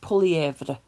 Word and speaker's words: Poilievre: I heard a joke where someone said that it was a good thing that Poilievre, it's pronounced Poilievre. I don't think he even pronounces it the French way, but Poilievre didn't win because our president would never pronounce his name correctly.